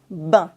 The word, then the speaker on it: ben: And you can hear it everywhere, and that's how we pronounce it, bain. Yes, like a bath in English, un bain. Bain.